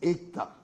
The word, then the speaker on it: ECTA: And many of my Indian friends here who know Hindi, and for your kind understanding, Vice Chancellor, ECTA is pronounced Ekta, and Ekta in Hindi is unity.